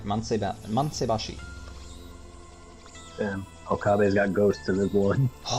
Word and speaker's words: Mansaibashi: And yeah, you pronounced that pretty much right. Mansaibashi.